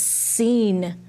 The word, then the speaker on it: scene: The next word says scene. What is it? Scene. And, this does have the silent letter.